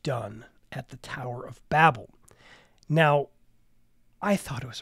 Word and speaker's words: Babel: passage is the story of the Tower of Babel or Babel however you want to pronounce it I usually use Babel but what jumped out to me this year